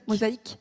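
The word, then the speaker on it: MosaHYc: MOSA hydrogène. Mosaïque. Mosaïque. Bah oui, mosaïque. Ouais, évidemment. simplement. Mosaïque. Voilà. Alors, de quoi s'agit-il et peut-être quelques exemples de ce qui fonctionne dans cette coopération transfrontalière. Donc Mosaïque, c'est à ma connaissance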